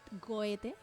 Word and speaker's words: Goethe: Y luego Goethe, que se pronuncia como Goethe, para los Ujú.